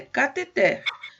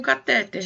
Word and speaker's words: cateter: Agora, tem uma palavra que vocês vão estranhar muito, porque a gente usa sempre pronuncia errado, inclusive na área da medicina e da enfermagem, eles também pronunciam errado. Mas vamos ver, como é que você lê a próxima palavra? Cateter? Isso, é cateter. A forma correta é cateter. Normalmente as pessoas usam um catéter, né?